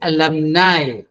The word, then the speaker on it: alumni: You have to understand the spelling, the pronunciation of each such word. See here, it is alumni.